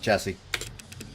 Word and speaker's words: chassis: The last S is silent chassis.